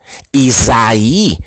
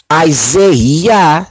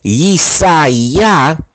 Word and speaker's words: Isaiah: Isaïe veut dire salut de Yah. Créole la pas prononcer bien, non? Isaiah, c'est une plus bonne prononciation. Ou bien Isaïa, c'est une plus bonne prononciation que lié.